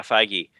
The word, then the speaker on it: Feige: Yeah, Feige.